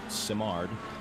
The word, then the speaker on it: Simard: that he gave chris simard that's the way it's pronounced by the way simard uh he he felt